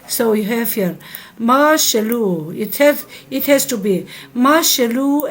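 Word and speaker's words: משלו: Mashalu, they will say mashallah, mashallah. It's not like that.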